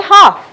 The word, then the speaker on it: half: word half we say half we don't say half so here the letter l the letter l is called a silent letter even in the next